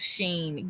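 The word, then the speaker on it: Shein: you know she said no I've heard of Sheen girl is spelled s-h-e-i-n um Sheen yeah how that spelled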